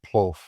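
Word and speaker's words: plov: is just Central American PL. The P L O F is what it sounds like. They spell it P L O V, but it's it's rice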